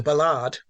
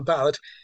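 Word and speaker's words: ballade: was very interested by the um the Ballard not I think I think it's how you pronounce it not a ballad um which is a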